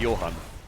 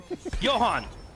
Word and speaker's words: Johan: Okay, so we're going into, we're teaching Tim European pronunciation. If you call Jean Lassalle Jean, that's fine. But the tank is called Johan. Johan!